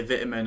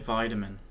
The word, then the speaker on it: vitamin: of differences in there we say vitamin and i know america says vitamin um firstly of course